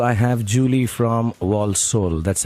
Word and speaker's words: Walsall: And on line 2, I have Julie from Walsall. That's how it's pronounced.